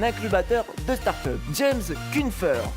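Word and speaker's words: Kuffner: atteur de startup James kunfer excusez-moi si je ne le prononce mal puisque c'est assez difficile c'est kunfner remplacera donc Andy rubain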